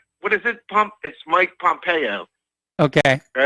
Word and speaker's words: Pompeo: said it's um it's it's not Pompeo it's Mike Pompeo okay Mike Pompeo keep